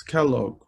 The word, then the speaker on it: Scalog: mean it I think the otters like it to be pronounced likes Kellogg oh okay okay yeah so